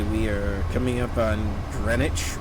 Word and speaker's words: Greenwich: are coming up on Greenwich or Greenwich some places have Spanish some places it's Greenwich in Rhode Island we had East Greenwich it was spelled Greenwich but we pronounced a Greenwich for whatever reason anyways we're coming up